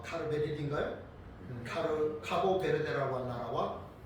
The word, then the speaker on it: 카보베르데: 뭐 비슷합니다.네 코티아 키보 베르 아닙니다. 카보베르데. 정확한 발음은베르데.